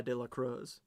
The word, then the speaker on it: De La Cruz: I think I mispronounced. It's Eli de Lacrosse. That's that's probably how how you know him. Eli de la Cruz.